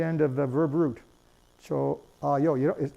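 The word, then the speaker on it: 좋아요: Choayo. No one pronounces it chohayo. It's choayo. There's absolutely no H is pronounced there.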